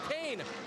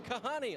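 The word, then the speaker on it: Kahne: believe it or not people had trouble with Kane I got called Kahani a lot everyone knows now it's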